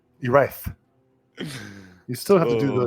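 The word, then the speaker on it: Erice: Silent Mandible says, I believe it's pronounced E-Rice, as in electronic rice. E-Rice.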